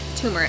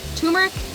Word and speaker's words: turmeric: Turmeric. How do you say it? Turmeric? There's an R in it.